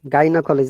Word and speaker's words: gynecologist: uh okay okay like but exception gynecologist this is exception it is these are all exceptions yeah gynecological gynecomastia gynecologist